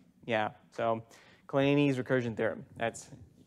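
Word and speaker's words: Kleene: His father pronounced his name Clean. His son pronounces his name Clean. Clean never pronounced his name Clean. He pronounces his name Claney, which is kind of weird. Claney.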